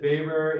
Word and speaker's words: Weber: Weber, we spell it Weber, but we pronounce it Weber in sociology. That's the German way of pronouncing it.